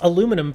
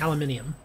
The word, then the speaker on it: aluminium: it is I'm just clicking and wasting time pronounced aluminum for me well there are two ways to say there's a little bit um and then there's aluminium and both are considered correct and yes they